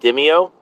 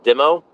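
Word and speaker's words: DIMO: of is called uh I pronounce it dimio uh or demo uh d-i-m-o um and it's almost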